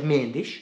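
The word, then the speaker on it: Jorge Mendes: second one is in Portugal they've got George mandis that I say right very good I said it right George mendish signed to look for the club he's going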